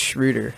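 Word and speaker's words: Schröder: shwy I think uh I think it's actually pronounced shrewder but yeah actually we got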